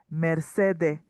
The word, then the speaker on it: Mercedes: And now here there's no s here. That is very important to notice because this is Caribbean Spanish. So in this case to make it more whole chloric they remove the s of the merceres that is a female name. So now here is changed to me. Merced.